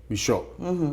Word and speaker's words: Michot: We're here, for those who are listening to us, we're here with Michele Ceballos Michot. The T is silent.